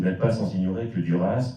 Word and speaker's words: Duras: Vous n'êtes pas sans ignorer que Duras dont il faut, contrairement à beaucoup de noms français, prononcer le S final de propre français et le